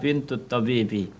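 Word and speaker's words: بنت طبيب: Jadi cara membacanya adalah bintu tabibi.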